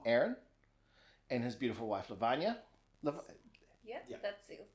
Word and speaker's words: Lavanya: So I'm sitting here with my cousin Aaron, and his beautiful wife Lavanya. Yeah, that's it. It's a perfect pronunciation.